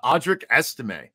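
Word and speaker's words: Audric Estimé: misss saying his name or misspelling it uh audri ese yes that's the pronunciation as far as I know as well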